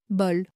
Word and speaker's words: bol: Bol, B-O-L. Parole, P-A-R-O-L-E. Volcan, V-O-L-C-A-N. Troisième façon, O qui s'écrit E-A-U.